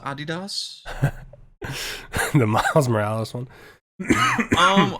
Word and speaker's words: Adidas: did you like that Adidas skin I heard people were complaining about that skin like the uh it's pronounced Adidas the Miles Morales one